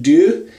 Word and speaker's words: Deaux: I think it's pronounced do and it's a d a x i think it's French but anyway uh this